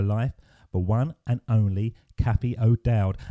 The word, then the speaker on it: Cathy O'Dowd: name ruin Zori no you got it spot on for the English pronunciation I don't think any